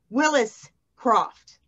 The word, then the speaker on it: Willis Croft: Tonight we have pronounce it, Willis Croft. Correct. Correct.